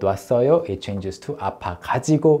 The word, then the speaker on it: 가지고: It changes to 아파 가지고 못 왔어요.